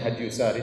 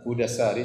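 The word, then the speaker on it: هدى الساري: Sebagian orang bacanya Hadyyusari. Tetapi yang benar Hudasari sebagaimana ditasykil diberi harakat langsung oleh Ibnu Hajar rahimahullah penulis buku.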